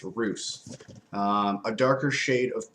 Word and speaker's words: Rousse: suggest you pair your rouse or yeah your roos with a goose and some chocolate mousse so there we go now we know that it's pronounced roos um a darker shade